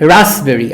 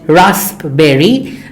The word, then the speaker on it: raspberry: And raspberry. I think many people make this mistake of pronouncing this word wrongly. They call it raspberry, but this is not raspberry, this is raspberry. Raspberry, not raspberry, raspberry.